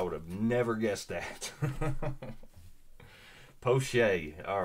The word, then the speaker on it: Pache: Poche. Thank you, Thomas. I would have never guessed that. Poche.